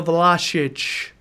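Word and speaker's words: Vlašić: let go on loan to CSKA Moscow Nicola the LA Shh that's for our Croatian friends who actually watched and corrected our pronunciation the logic there you go we took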